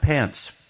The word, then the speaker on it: Pancz: It's pronounced pants. P A N C, but I I've been told it's pronounced pants.